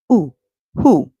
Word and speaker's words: who: right our next word the W the W silent the H makes a song so we hear and the O at the end makes a short oo song we hear so who remember wh can also